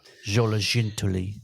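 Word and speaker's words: Xoloitzcuintli: If it's Chinese, then the X is pronounced with a sh. So it'll be like Zologintuli Terrier.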